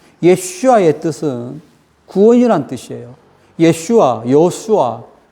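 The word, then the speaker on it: ישוע: 원래 오리지널 발음은 예슈아이거든요. 예슈아의 뜻은 구원이란 뜻이에요.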